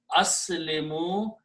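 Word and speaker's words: أسلموا: Okay, when you put a waw in at the end with an alif, which is not pronounced, and pronounced as aslimu, it becomes the plural.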